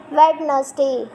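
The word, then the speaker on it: Wednesday: अब इसको अपन वेडनेसडे नहीं पढ़ते, अपन क्या पढ़ते हैं इसका, एक्चुअल में अपन पढ़ते वेडनेसडे, बट ये होता है वेडनेसडे। तो अपन यहाँ पे डी को साइलेंट कर दिया।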